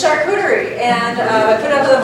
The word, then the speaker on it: charcuterie: Charcutier. I put that word up on the board. Everybody knows that word now. Huh? It's like the new word. It's right. It's charcuterie, and I put it